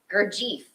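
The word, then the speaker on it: Gurdjieff: uh okay hold on i wrote how to pronounce this dude's name i always get it right gerd gergief gergief is how you say it gergie says without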